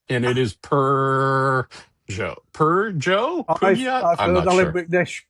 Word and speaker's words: Peugeot: Uh and I can't do the purr as in cat. As in I've heard Alan Mcnish pronounce and it is perjo.